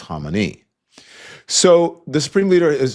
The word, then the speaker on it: Khamenei: uh Khomeini that was back in the day that's how they pronounce it but then as time went on we know it's Khamenei or Khamenei but some people say the Ayatollah Khomeini right? That was the American way of saying it but that was you